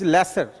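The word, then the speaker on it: leisure: going towards lasers actually its pronunciation is lesser lesser is its pronunciation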